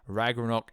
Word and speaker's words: Ragnarok: reg we're not wrong I'm from England I pronounce it the English way Ragnarok is coming so deal